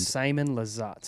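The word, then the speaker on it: Simon Lizotte: even let's go with simon elegantly do you guys know how to say that or even yarness it's simon lizat ah okay it's because they spell it different over there yeah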